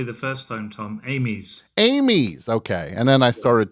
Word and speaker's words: Amies: said it perfectly the first time Tom Amy's Amy's okay and then I started to Maul it